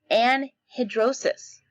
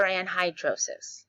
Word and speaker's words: anhidrosis: Anhidrosis. You can say anhidrosis or anhydrosis. Either way, either pronunciation is acceptable.